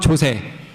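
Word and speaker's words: JOSE: 저희 같은 경우는 앞에서 잠깐 언급드렸던 조세, 발음을 좀 조심해야 될 것 같긴 한데 조세 이제 JWT라고 불리는 JSON 웹 토큰이라는 것을 이용을 하고 있습니다.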